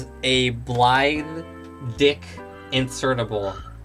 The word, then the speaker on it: Blaidd: And then here it was called Blade instead of Blythe. That's how people mispronounce his name anyways.